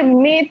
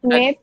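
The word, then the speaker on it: meth: যে sorry sorry sir, মেথ লেখা, মেথের পরে ওটাকে আমরা ওয়ার্ড রুট মেথ। ওটাকে আমরা মেথ উচ্চারণ করব না, উচ্চারণ করব মিথ। ময়ের অস্বীকারে মি আর মিথ।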